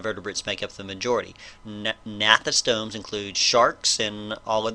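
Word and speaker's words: gnathostomes: group of creatures called natha stones the G is silent natha stones or vertebrates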